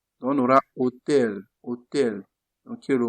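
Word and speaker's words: hotel: Donant l'esprit, il faut considérer que le O, le H là n'existe pas. Commencer par prononcer le O directement, on a dit qu'il est souvent muet. Donc, on aura hôtel.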